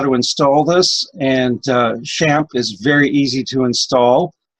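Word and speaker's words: XAMPP: out how to pronounce I thought it would be zapped but they pronounced it champ and I've got links here for tutorials on how to install this and champ is very easy to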